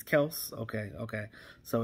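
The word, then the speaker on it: Kelce: jordan lewis said that it's actually not pronounced kelsey it's actually pronounced kels so it's we've been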